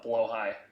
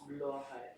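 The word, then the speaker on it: Blåhaj: Also, please, someone tell me it's not blow high, please. Or is that actually how you say it? It's blow high. Oh no. It's high like with a J that sounds like an H, like jalapeno, like.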